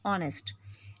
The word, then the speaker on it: honest: rather this word is honest H is silent and it is producing